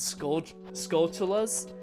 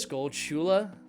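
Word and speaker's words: Skulltula: pronounce those enemies as skull skulas I'm pretty sure it's a a combination of the two English words skull and tarantula and so I kind of pronounce it as skull Chula I think that's the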